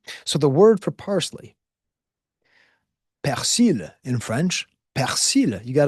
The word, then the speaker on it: persil: Okay, so the word for parsley, persil in French, persil.